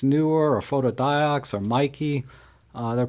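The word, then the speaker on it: Neewer: newer for example some some people call it knee were but I was corrected by the manufacturer because they've been talking it's actually pronounced newer you know these companies they they have a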